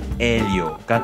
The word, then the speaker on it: Elio: 이 이름은 로망스 어군의 언어에 퍼져서 프랑스어로는 엘륨, 스페인어로는 엘리오, 그리고 이탈리아어로는 엘리오가 되었습니다. 그런데 이쯤에서 H는 도대체 어디 갔지? 혹은 정확히 얘기하자면 흐 발음에 해당되는 H 발음은 도대체 어디 갔지?